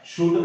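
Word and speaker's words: should: शुड का वास्तविक मतलब इसमें क्या है? एल साइलेंट है, ठीक है।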